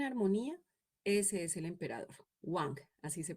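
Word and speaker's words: 王: Wang, así se pronuncia este carácter.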